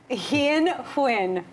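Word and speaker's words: Hien Huynh: our push best lab choreographers courtney hope and he in win welcome to various you told me your name five times and how to pronounce it but did I do it right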